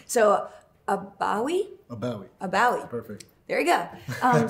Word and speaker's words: Abawi: Abawi.